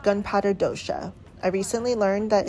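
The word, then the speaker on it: dosa: dish is called gunpowder Dosha I recently learned that it's pronounced Dosha even though it's spelled d-o-s-a and it's called gunpowder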